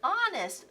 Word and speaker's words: honest: a good guess but honest starts with a silent h Mrs Brisbane wrote the